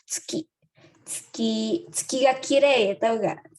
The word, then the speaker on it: tsuki: Seperti cara baca bulan di Jepang itu tsuki ya, tsuki.